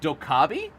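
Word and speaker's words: Dokkaebi: it's all right uh dokabi you don't pronounce the E I always thought in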